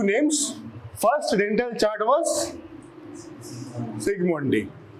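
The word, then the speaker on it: Zsigmondy: First dental chart was সিগমন্ডি। Who said? কে বললো রে? তুই? ওকে ইট জেড দিয়ে শুরু হয়, জেড ইজ সাইলেন্ট, সিগমন্ডি।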